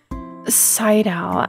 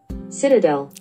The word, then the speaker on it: Citadel: Seidel. You know what? Pronunciation. Citadel. Citadel? Citadel. Citadel. Okay, that's it.